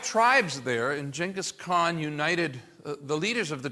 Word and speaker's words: Genghis Khan: Really should be pronounced Genghis Khan. A lot of people say Genghis, but he conquers.